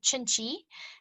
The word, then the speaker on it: Cinci: It's called Chinchi. It's spelled Cinci.